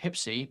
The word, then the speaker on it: HPSCI: For over 2 years, the House Permanent Select Committee on Intelligence, the HPSCI for short, pronounced HIPSI by Beltway Cognoscenti, conducted an investigation of